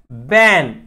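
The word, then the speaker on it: ban: त्याच्यानंतर बॅन. बॅन. बॅनचं काय होईल? बी ए एन. बाण नाही म्हणायचं बघा त्याला, बॅन.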